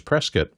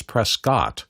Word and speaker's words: Prescott: And it's pronounced by everybody who lives in the area as Prescat, but if you look at it red, it's Prescott, coot t.